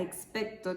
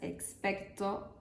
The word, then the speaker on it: expecto: el hechizo experto patrón la palabra expecto tiene una entonación descendente en la última sílaba lo que significa que la voz debe bajar su tono en esa sílaba además si pronuncias expecto patronum incorrectamente te comen